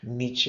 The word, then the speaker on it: Nietzsche: Look, it's Friedrich Nietzsche is how you pronounce it, but that's also something that's a tongue twister.